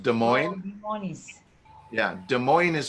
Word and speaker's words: Des Moines: Yeah, and Des Moines, it looks like Des Moines for Iowa is pronounced Des Moines. Des Moines.